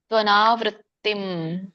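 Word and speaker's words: त्वनावृत्तिम्: ಉಚ್ಚರಣೆ ಈತರ ಬರುತ್ತೆ ಯತ್ರಕಾಲೆ ತವನವೃತ್ತಿಂ ತ್ವನಾವೃತ್ತಿಮನ್ನ ಬಿಡಿಸಿದಾಗ ತು ಅನಾವೃತ್ತಿಂ ಅಂತ ಹೇಳಿ ಕರೀತಾರೆ. ಹ ತು ಅನಾವೃತ್ತಿಂ ಸೋ ತ್ವನಾವೃತ್ತಿಂ ಅಂಬೋದು ಕೊನೆಗೆ ವ್ಯಂಜನ ಇದೆಮ ಸ್ವಲ್ಪವಾಗಿ ವ್ಯಂಜನ ಹೇಳಬೇಕು ವೃತ್ತಿಂ ಸ್ವರ ಬರ ಸ್ವರ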